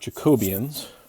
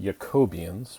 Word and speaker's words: Jacobian: be talking about Jacobians, although probably it should be pronounced Jacobians because it's named after a German mathematician named Jacobi and has nothing to do with British Jacobians or Jacobites or things relating to King James I in any way.